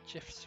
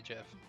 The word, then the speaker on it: GIF: It's pronounced memes and gifs with a hard G. I'm with the mayor. I say Jeff.